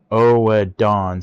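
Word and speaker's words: Oedon: And it's not Odin. It's spelled different than Odin in Japanese. It's different Japanese characters. I believe it's um O dawn.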